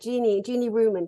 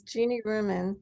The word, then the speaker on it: Jeanne Ruman: And what's so beautiful about Jeanne Ruman, can you say her name again so I get it right? Yes, Jeanne Ruman. Jeanne Ruman, just gorgeous.